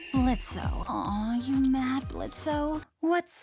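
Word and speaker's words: Blitzø: it's well known that blitz's name used to be blitzo but that he decided to make the O silent when he adopted something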